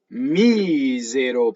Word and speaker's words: misero: Misero pane. The accent is on the E, right? Anti-penultimate syllable.